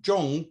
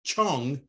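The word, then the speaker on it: 重: as double weighting however the same character zhong can also be pronounced chong translated as repeated overlapping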